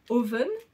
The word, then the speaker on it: Oven: donc de la marque oven je le prononce à l'anglaise on dirait que je dis moi ça me fait penser au mot four du coup mais voilà